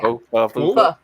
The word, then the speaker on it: pho: Pho. It is pronounced pho. I can't. Pho. Okay. I mess up because it's spelled pho, but that shit's awesome.